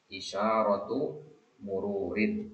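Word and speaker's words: إشارة مرور: kata seperti ini maka kata keduanya itu harus ditanwinkan dengan kasrah isyaratu mururin jadi harus kasrah dia ya isyaratu mururin ini dalam bahasa Arab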